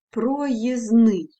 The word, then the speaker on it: проїзний: спрощують для себе вимову наприклад проїзд але проїзний незручний звук д випадає спрощення може відбуватися не